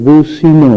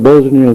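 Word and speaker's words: بوسنیا: منصر المسلمین فی البوزنیا، حالانکہ وہ ملک بوسینا ہے، اسلامی ملک ہے، بوسینا اس کا نام ہے۔ انگریزوں نے اپنے اس تلفظ سے بوسینا کو بکار کر بوزنیا کر دیا، تو مولانا دعا عربی میں مانگ رہے تھے ممبر پر بیٹھے، لیکن اسے بوزنی کہے جا رہے تھے عربی میں بھی، حالانکہ وہ بوسینا لفظ ہے۔ اسی طرح ایک ریاست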